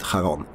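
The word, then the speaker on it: Charon: I pronounce it Haron.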